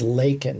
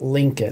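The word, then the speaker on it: Laken: was talked about and her name is lak not Lincoln which Biden mispronounced right right couldn't even get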